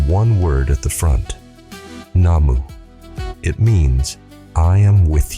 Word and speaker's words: Namu: Though it's Namu should be pronounced Nam.